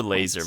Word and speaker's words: Lasur: trying to dictate that I prefer laser myself just the pew-pew kind most people do yeah it sounds like some sort of space your laser arcing shade you know